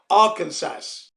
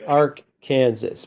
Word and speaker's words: Arkansas: blame you though because it has an S on the end but the S is silent yeah it looks like Kansas AR Kansas but it's not it's